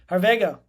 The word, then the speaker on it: Harvego: Harvego.